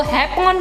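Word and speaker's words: Japón: जापान से आया है और स्पेनिश में जापान को हैपोन कहते हैं क्योंकि स्पेनिश में जे का मतलब एच होता है और जो जे का प्रोनाउंसिएशन है उसे एच की तरह करते हैं।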